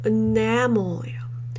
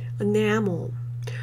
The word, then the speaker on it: enamel: 그 다음에 요거는 두 번째 음절에 강세가 있어요. 그래서 enamel예요. Enamel.